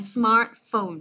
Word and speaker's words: smartphone: Đấy, smartphone, cho âm đầu tiên, hiểu chưa?